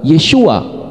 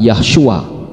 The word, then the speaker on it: Yeshua: dengan tata bahasa Ibrani karena kalau Benar yahyua berarti harus ada huruf h-nya padahal tulisannya adalah Yod syin W Ain yang kalau dibaca adalah yesua bukan yahua jadi menurut tata bahasa Ibrani susunannya bukan yahua atau yahosua tetapi yesua dan malaikat